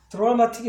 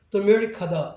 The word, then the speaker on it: dramatic: 근데 사실은 그렇게 발음할 수가 없고 여기 현상에 의해서 요거를 DRA가 아니라 실제로 쓰이기는 있지만 DAR처럼 발음을 여기는 항상 얼굴로 발음이 바뀝니다. 그래서 전체적인 발음은 드라마틱이 아니라 dramatic하다 이렇게 발음을 해야 돼요.